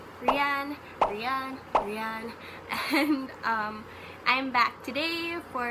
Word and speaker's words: Rian: That's how you say it. Rian.